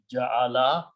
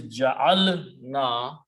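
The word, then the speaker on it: جعلنا: few times clearly, because if you did not pronounce this sukoon properly and it stretched a little bit and it sounded by like ja'ala, the meaning becomes very different.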